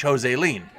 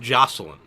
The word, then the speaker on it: Joseline: what she's gonna teach Jose lien who Jose lien I saw it on the poster yeah it's pronounced joseline oh really yeah nothing